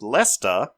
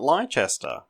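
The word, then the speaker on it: Leicester: to tell me that it's pronounced Lester not leester Morgan you're giving me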